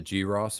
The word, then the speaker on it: Gross: Is that the G Ross beer? Mm-hmm. Nice. I thought it was cross, but it's gross.